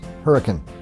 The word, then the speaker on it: Hurricane: handled windshield washers but even though the name of the town is spelled hurricane like the storm don't pronounce it that way you'll sound like a tourist around here it's hurricane there's even an RV